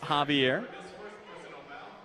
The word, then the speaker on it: Xavier: Xavier CIS Javier CIS sorry spelled like Xavier pronounced Javier southeast of Seline will